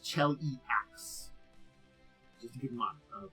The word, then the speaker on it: Cheliax: And it is pronounced Cheliax.